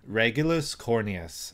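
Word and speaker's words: Regulus Corneas: Regulus Cornius seems to be the correct pronunciation of his name.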